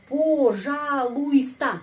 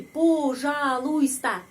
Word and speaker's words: пожалуйста: Пожалуйста. Tapi ada peraturan untuk pengucapan. Penekanannya berada pada huruf A. Karena itu huruf O ini dibaca A. Пожалуйста. Dan huruf I di sini tidak dibaca.